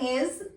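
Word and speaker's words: hay: And the good thing is for verb haber we do not have any conjugation in simple present tense. We'll just use H-A-Y and we'll read it I because H is silent.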